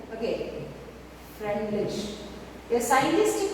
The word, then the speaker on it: Freundlich: Now, a scientist called Freundlich, okay, a scientist called Freundlich, the D is silent, okay, Freundlich.